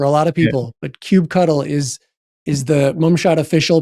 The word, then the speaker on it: kubectl: But kube cuddle is the official pronunciation of this seven letters.